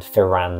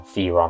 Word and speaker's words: Firan: And then NPC-wise, I'd love to do a video on Esmeralda or Ez, and Firan Zalhonen, or Firon, I think he might be pronounced, and we'll talk more about that in that video.